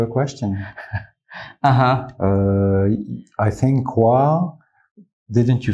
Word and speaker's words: quá: I think quá. Didn't you say wa? I did. There's no K in it. In the north, northerners pronounce QU with a K.